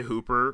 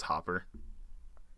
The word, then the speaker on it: Hopper: to say his name I used to say Hooper whenever I first saw it because I thought that's how you pronounce it but it's hopper yeah I found out